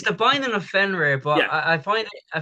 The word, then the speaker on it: Fenrir: binding of finger finero then how do you pronounce the f f and um it's the binding of fenrir but i find it i find it interesting